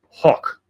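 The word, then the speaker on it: Hoch: So his birth name is Abraham Lee Hawk which I'm trying to do the German pronunciation spelled H Oc.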